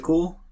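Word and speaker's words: CeWL: can use fantastic tool is called cool but it's spelled differently it's called spelled c e WL so that tool why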